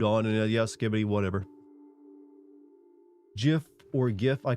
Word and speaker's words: GIF: language then we changed GIF should be said like gift you know what I'm going